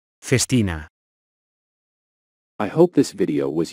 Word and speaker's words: Festina: watch conglomerate so how do you go about pronouncing it Festina face Tina Festina I hope this video was useful if you